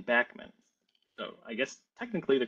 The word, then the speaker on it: Bachman: I will mention real quickly is the uh pronunciation of the common name the Bachmann spare is their backman Sparrow most people say Bachman Sparrow because I think there's this this this bias